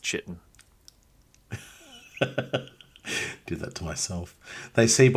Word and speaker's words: chitin: They see by way I don't know why you pronounce it like that. It's pronounced chitin.